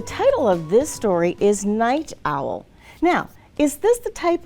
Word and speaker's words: Knight Owl: of this story is Night Owl now is this the type of night like night time no we know that because of the way that it's spelled remember the K is silent so this is a